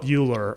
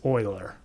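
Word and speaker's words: Euler: That was I call it I call it Uler all the time. You almost got that wrong. It's Oiler. Yeah, it's Oiler.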